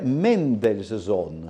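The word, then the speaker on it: Mendelssohn: E poi credo che adesso non vorrei fare proprio quello il saccente si dovrebbe pronunciare Mendels Zone.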